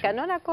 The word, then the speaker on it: Canónaco: ¿Lo pronuncié bien su apellido? Sí, ¿Canónaco?